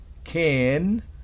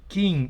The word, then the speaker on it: ken: En la primera no es king, no, es ken. Es una I que tiende a E, ken.